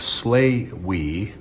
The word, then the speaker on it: Slaoui: by the name of slay we i believe that's how you pronounce it s-l-a-o-u-i he is a